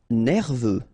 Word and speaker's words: nerveux: Nerveux, final X not pronounced, E-U, E-V, nerveux.